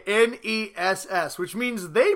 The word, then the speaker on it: NES: Hey Ryan, what do you call the next version of the NES?